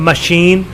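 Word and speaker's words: machine: While in the word मशीन CH is also pronounced as श। इसी तरह मशीन में CH जो है ये भी श की आवाज़ देता है।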